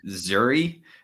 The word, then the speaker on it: Zuri: It's called Zuri. It's like Yusuri.